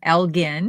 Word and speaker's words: Elgin: very close okay and school teacher sarah says that she's done some research in the uk elgin elgin is pronounced with a hard g it is a masculine